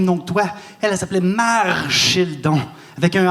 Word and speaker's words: Marchildon: Elle s'appelait Marchildon, avec un R.